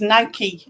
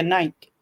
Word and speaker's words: Nike: However, it is Nike, and we say it wrong because we say Nike.